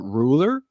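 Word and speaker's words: Rouler: so uh this Brewery is called ruler but it's spelled a little bit different it's spelled r o u l e r um and the reason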